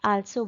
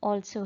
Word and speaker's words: also: Word होता है ALSO, कुछ बच्चे उसे आल्सो बोलते हैं, दैट इज रॉन्ग। उसकी सही प्रोनाउंसिएशन ऑल्सो है, दैट इज हम ऑल करके बोलेंगे ओ के, ऑब्वियसली हमारे लिप्स ओ के शेप में आ जाएंगे।